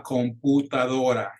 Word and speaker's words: computadora: It's a 4-syllable word. It's a big one, but look at all those vowels. O, U, A, O, A. So you want to pronounce it with those vowels being pure. La computadora. Each vowel gets its time.